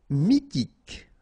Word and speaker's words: mythique: Mythique. Remember, Q-U at the end, K, okay, and then Y is pronounced like I. Mi, H is not pronounced. T, K. Mythique.